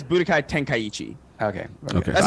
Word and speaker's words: Tenkaichi: they were talking to Saul yeah it's Budokai Tenkaichi okay okay that's how I used to say